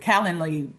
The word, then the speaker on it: Calendly: I don't know how to pronounce it. Calendly. Yes, he sent me something. Right. You said it right.